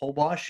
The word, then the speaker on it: Holbox: There's another place up near Cancun called Holbox. It's spelled Hulbox, where you can also dive with the whale sharks, but the water there is somewhat green.